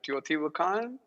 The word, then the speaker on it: Teotihuacan: How do you pronounce it? Teotihuacan?